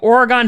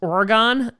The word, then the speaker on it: Oregon: A lot of people were upset with how I pronounced Oregon. That's how, back in my day in New York, you pronounce the Oregon Trail. Yeah, that famous PC game. Oregon is maybe how some other people pronounce it, but it's Oregon in New York, so deal with it.